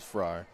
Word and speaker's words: Fry: You can call him whatever you want, but I think the appropriate pronunciation is Fry.